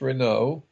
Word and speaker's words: Renaud: Martin, and Andrew Renaud, that's spelled Renaud, and I think it's pronounced Renaud, who were friends of Monday,